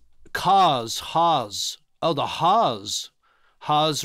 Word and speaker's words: Haas: Haas rhymes with cars.